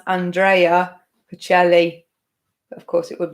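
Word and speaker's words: Andrea Bocelli: So his name is pronounced Andrea Pacelli. But of course, it would be Andrea. My best friend is called Andrea. So Andrea Pacelli was the answer.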